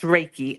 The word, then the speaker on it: Reiki: She did some type of Reiki. Yes, Reiki.